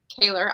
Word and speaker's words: Kahler: You're Emma Kahler. I was saying Kohler in my head, so I'll correct it to the German pronunciation.